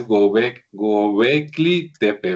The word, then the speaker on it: Göbekli Tepe: Sí, que por cierto mientras te acomodas, este, creo que lo pronuncié mal, parece que es Gobli, o sea, la L es después de la K, entonces parece que es Gobecli Tepe, ¿verdad? Ve no más.